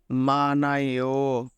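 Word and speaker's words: 많아요: ইহুদের উচ্চারণ আমাদের হবে না সেম ভাবে এটার উচ্চারণ আমাদের হবে মানাইও মানাইও মানাইও কেননা এই নিউনটা আমাদের এই সেই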